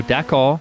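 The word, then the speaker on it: Dakar: So, Dhaka isn't just me pronouncing the car funny. It's D A K A R.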